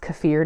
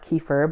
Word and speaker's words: kefir: of fun to make I have a milk cafir video and it is by the way pronounced cfir not kefir believe it or not I have a milk